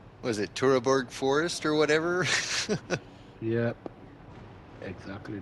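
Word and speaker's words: Teutoburg: Was it Turaborg Forest or whatever? Yep. Exactly that. Teterboro Forest. Ah, there you go. I'm American. My pronunciation of everything's fucked.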